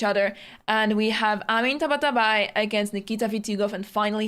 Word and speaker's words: Tabatabai: Tabatabai.